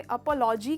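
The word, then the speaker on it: apology: तो इसमें प का साउंड बिल्कुल प्रोमिनेंट प निकलता है।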